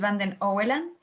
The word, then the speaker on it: Van den Oeland: Sí lo pronunciaste más o menos bien, es Van den Oeland.